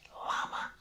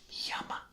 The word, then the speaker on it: llama: A lot of people like to say llama, but in Spanish it's actually llama. Like with a Y, it almost seems like.